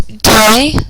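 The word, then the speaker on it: des: s d so Sisters Day s so again those are pronounced a day and then if you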